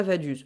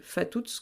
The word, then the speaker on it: Vaduz: Et alors je sais que ça se prononce pas Vaduz. Je devrais sûrement dire Fatuz, quelque chose comme ça.